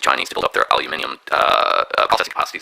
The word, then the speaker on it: aluminium: If you want gallium, you need an aluminium or aluminum, as the Americans say, facilities, okay?